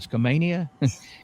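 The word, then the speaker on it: Skamania: How do you say that? Schammania County, Washington has an ordinance on killing a Bigfoot. And I was going to tell you, Roger, but I also wanted to hear your pronunciation. So, how did how bad did I butcher it? You did all right.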